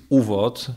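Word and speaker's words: ÚVOD: To znaczy oczywiście było takie jego kierownictwo, mówię tutaj o organizacji UWOD. Dla polskich słuchaczy może warto rozwiązać ten akronim, że on znaczy wstęp. Sam akronim wymawiany jako jedno słowo znaczy wstęp, natomiast rozwinięcie tego skrótu to było Ustrzedni Wereni, czyli Centralne Kierownictwo.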